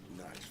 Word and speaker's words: Nice: And Nice is pronounced, Nice is pronounced Nice. Okay. As in like the place in France.